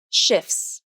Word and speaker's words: shifts: Nope, there is no T sound in the word shifts, although the letter T is in the spelling.